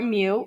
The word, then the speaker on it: mu: a typo where normally distributed the mean or mu as you same as x-bar pronounced mu that's that's the symbol you all